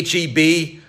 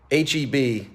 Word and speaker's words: HEB: Enjoy the olive and June, the backspace, the HEB, whichever kosher option you went with. HEB. It's not pronounced Heb, right?